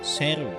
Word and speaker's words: Sheru: Over the years Saro also mispronounced his own name. Because Saro's real name is actually "sheru" which means lion.